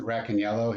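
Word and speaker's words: Racaniello: There's a guy named Vincent Rackaniello. He's like, he says it rhymes with black and yellow, makes it easier to remember.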